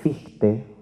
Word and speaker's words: Fichte: Tal vez hay otro autor que les puede resultar significativo, que se llama Fichte, se escribe Fichte, ¿no?